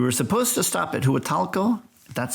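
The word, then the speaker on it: Huatulco: way South we were supposed to stop at hu talo that's how it's pronounced uh but there was some bad weather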